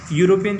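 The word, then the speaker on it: European: क्योंकि स्टार्ट तो भले ई से हो रहा है पर इसका प्रोनाउंसिएशन जो है यह हो रहा है। यूरोपियन जो हम कहते हैं तो इसका प्रोनाउंसिएशन यू हो रहा है और जो कि हिंदी का कॉन्सोनेंट है, तो यहाँ आएगा आर्टिकल ए।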